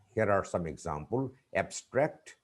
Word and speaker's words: abstract: When we use some words as nouns or adjectives, the stress is on the first syllable. But when they are used as verbs, the stress is put on the second syllable.